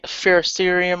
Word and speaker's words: ferrocerium: it yeah um I usually order like Pharisee ferrocerium rods yeah that's how you say it um